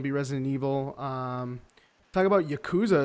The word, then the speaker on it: Yakuza: Talk about Yakuza as well, or Yakuza as I've heard it pronounced.